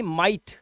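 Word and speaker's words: might: माइट इसे पढ़ते हैं माइट देखो माइट क्योंकि जी एच टी को सिर्फ टा पढ़ते हैं और आई जो आया हुआ है इसको आई ही पढ़ेंगे तो ये हो गया माइट ठीक है जैसे होता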